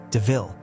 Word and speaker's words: DeVille: Horace takes Estella a new car called a Panther DeVille and mentions that it sounds like the word devil. Even though it's said as DeVille, Stella really likes the name.